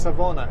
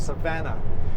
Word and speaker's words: Savona: shoot uh Savannah Savannah it's that Savona it's not Savona it's Savannah um it actually if you